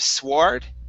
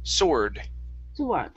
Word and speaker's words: sword: word sword right here instead of sward okay it's sore sword one more time sword